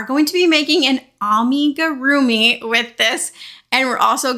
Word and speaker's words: amigurumi: I automatically say amigurumi, but I know that it's supposed to be amigurumi, and my brain just does not want to say that correctly, so please forgive me.